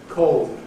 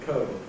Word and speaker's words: cold: ɒʊ ], ‘told’ , ‘cold’ rather than , ‘gold’ rather than , ‘whole’ rather than .